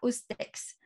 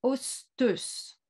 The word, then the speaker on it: ostex: Quand vous voyez un mot comme le mot Ostex, ça ne se prononce absolument pas Ostex, ça se prononce Osteus.